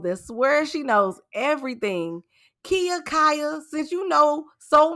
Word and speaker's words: Kia: Her name is Kia. It's pronounced Kia, but it looked like Kaya.